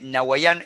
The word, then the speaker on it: Nawaiam: Nahuayán se escribe así, N-A-W-A-I-A-M. Nahuayán es un Spanglish que significa aquí ahora, básicamente, que es como viven los millennials y los centennials.